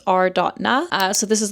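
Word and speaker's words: Are.na: I'm just going to say arena, but it's r.na.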